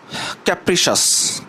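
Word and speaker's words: capricious: এখন আসি ক্যাপ্রিসাস ক্যাপ্রিসাস এখানে দেখেন অনেকে এটা উচ্চারণ করবে এইভাবে যে ক্যাপ্রিসিয়াস এভাবে কিন্তু উচ্চারণ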